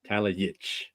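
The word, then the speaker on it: Talajić: That in a Slavic language, the J is a Y. Is a Y. See that? You told it to me 2 minutes ago. That's why it's J. So the J, I see it's Yitch. Talajic.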